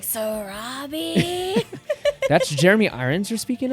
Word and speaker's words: Sarabi: or sarapa maybe Sarabi Sarabi new okay it's Sarabi for sure it is SAR I remember um scar yelling it towards the end it is Sarabi like Sarabi that's Jeremy Irons are